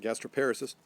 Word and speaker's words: gastroparesis: the food along so people with gastroparesis or some people pronounce it gastro paris's will have their food